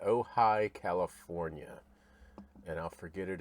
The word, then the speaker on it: Ojai: Let's figure out how to pronounce that. Oh, hi. Oh, hi. So, oh, hi. Never would have guessed that. Ojai, California.